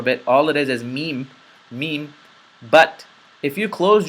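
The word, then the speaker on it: م: m m you know you push the M sound out of your nose similar or identical to the letter M there's not much else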